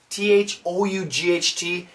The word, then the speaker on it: thought: be useless were thought t h o u g HT it's an A W sound F no not for American pronunciation thought got to drop the chin thought TT connected keep